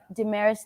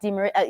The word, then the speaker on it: Damaris: Damaris, not Demaris.